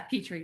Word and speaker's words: Petri: Petri like petri dish.